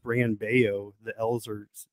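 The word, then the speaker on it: Brayan Bello: mention uh about bran i believe it's actually pronounced brian baio the elves are pronounced as wise he's he's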